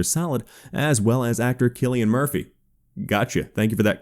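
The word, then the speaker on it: Cillian Murphy: first metal gear solid as well as actor killian murphy gotcha thank you for that comment correcting my name pronunciation as for the real and confirmed update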